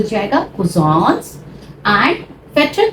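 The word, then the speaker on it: Vetter: यूज़ is they are फेटर they are अ पेट now remember German में यहां बी आता है तो उसको हम फ प्रोनाउंस करते हैं।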